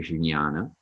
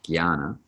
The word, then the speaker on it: jnana: And the J in front of it is pronounced more like a G than a J in this instance. Now, sometimes you will hear people say jnana with the word jnana, but most of the time you'll hear it pronounced as a G sound.